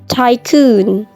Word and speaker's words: tycoon: Oke, number 15 ada tycoon, tycoon, U-nya panjang.